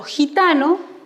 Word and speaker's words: gitano: las escuchamos por ejemplo gitano si como vemos aquí se escribe con je je pero suena como jota vocal nosotros en taquigrafía siempre